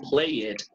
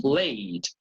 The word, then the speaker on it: played: You don't say play it, you say played. You don't say work it, you say worked. You don't say love it, you say loved.